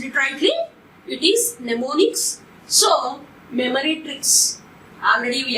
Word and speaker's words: mnemonics: tricks yes yes here the ammo is silent mnemonics i pronounced detroit it is mnemonics so memory tricks already we are discussing the